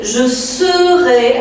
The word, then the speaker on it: je serai: Attention de ne pas confondre être et savoir qui ont une prononciation très proche. Ici, l'auxiliaire être, c'est je serai avec E, S-E.